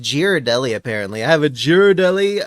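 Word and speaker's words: Ghirardelli: Yeah, I'm going to suffocate myself with this bag later, but for now, I have a It's pronounced Girardelli, apparently.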